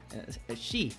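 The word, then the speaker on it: 四: for some reason and in Japanese number four is pronounced as um she which also has the meaning of death so him being you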